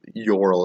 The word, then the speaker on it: Jorl: Ural is spelled Jorl, as we would render it into real world English, but it's actually Ural. It's the Scandinavian J, so it's a yeah sound.